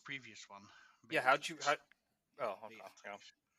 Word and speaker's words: Beatrix: How did you pronounce Seems the queen's interesting. name? Beatrix. that was the previous one. Yeah, how'd you? Beatrix.